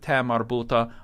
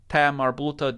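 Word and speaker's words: ة: buta in ordinary words Tamar buta just sounds like an A sound sometimes it will be pronounced as if it were a tat but we're not going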